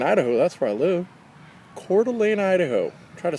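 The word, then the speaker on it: Coeur d'Alene: she liveing calan Idaho that's where I live cordelan Idaho try to spell that c o e u r d apostrophe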